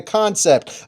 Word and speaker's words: Kansept: That, by the way, that is how you pronounce this, is Concept, not Kansept.